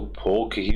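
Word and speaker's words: folk: फॉक किसको कहते हैं फोक के अंदर एल साइलेंट रहता है दोस्तों इसको फोक ही बोला जाता है एल साइलेंट होता है यानी पब्लिक यह पूरी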